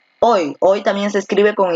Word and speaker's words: hoy: Cuando una palabra termina en Y, esta tiene el sonido de I y se le considera como la vocal I, más no como la consonante Y.